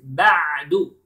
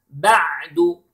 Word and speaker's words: بَعْدُ: Then بَعْدُ. Notice to the عَيْن letter. Okay. It is عَيْن, it is not Hamza. بَعْدُ. No, it is بَعْدُ. Repeat please. بَعْدُ.